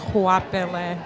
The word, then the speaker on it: Goapele: And really it's a family name, pronounced Goapele, which is even harder than.